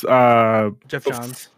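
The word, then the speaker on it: Geoff Johns: Jeff Johns. Yeah, I always pronounce Jeff it wrong, John.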